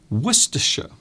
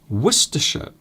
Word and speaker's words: Worcestershire: Worcestershire. So even though the spelling of the word Worcestershire is different, you can hear that I actually pronounce it very different or differently to how it's actually spelt.